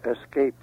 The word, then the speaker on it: escape: No X in escape.